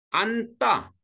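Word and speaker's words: 안다: 그다음에 안따 마찬가지죠.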